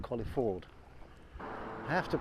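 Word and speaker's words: Colyford: Um and there's another village for it called Collie Ford. I have to pronounce it like that because I was told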